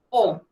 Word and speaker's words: au: Entonces, usted le pone delante O. Se escribe AU, pero se pronuncia O.